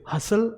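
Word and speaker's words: hustle: में आ रहा है, तो उसे ट को जो है वो प्रोनाउंस नहीं किया जाता। तो हम इसे कैसे बोलेंगे, विसल, इसे बोलेंगे रेसल, और इसे हसल, and this is कासल।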